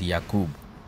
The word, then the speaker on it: Yakub: James, or actually the name there is Yakub. What we popularly call him Jacob. Or pronounce it Jacob, but it is the name Yakub.